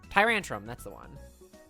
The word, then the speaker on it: Tyrantrum: Tyrantrum, that's the one. Because there's Tyrant and then Tyrantrum. Yes. It's like Tantrum and Tyrant.